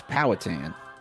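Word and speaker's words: Powhatan: lives in Poon Virginia how do you say that poon it's powatan I read it like a white person poon I'm reading I'm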